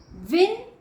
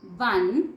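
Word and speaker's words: won: विन, वन, वन। कुछ बच्चे बोलते हैं वॉन, तो बच्चों वह गलत है, सही प्रोनाउंसिएशन होती है वन।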